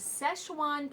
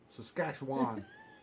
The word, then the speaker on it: Szechuan: say you can't say it now you're not pronounce it right what the name of the restaurant is it is Szechuan cafe tell them how you say it love Saskatchewan that's what cafe Saskatchewan first of all he's